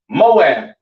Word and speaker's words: Moab: so on all right this is pronounced MAA all right Moab or MAA in Hebrew is your Chinese people